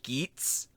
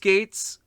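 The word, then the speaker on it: Geats: rider geets possibly geets i hope it's not pronounced gates because we already have a gates technically and somebody's like actually eats gays and it's like um that's how it's spelled but it definitely sounds like it's saying gates so shut up i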